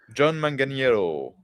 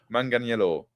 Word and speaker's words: Manganiello: John Manganiello. I'm going to say it like that. Manganiello.